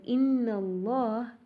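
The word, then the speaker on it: إن الله: Another example, Allah. We know the Hamza in the word Allah is pronounced. But when we join it with another word, for an example, Inna Allah, we see that the alif is dropped.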